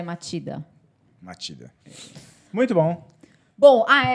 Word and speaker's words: Machida: inclusive gente eu falei ali outro Machida é matida é não se escreve se escreve matida mas fala matida não